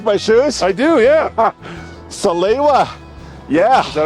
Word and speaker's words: Salewa: Salewa. Yeah. Is that how you pronounce it?